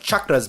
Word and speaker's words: chakra: Anyway, she messaged us to clarify that it is pronounced chakra with the hard CH.